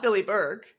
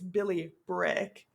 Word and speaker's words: Billy Bryk: I said the name wrong. It's Billy Brick.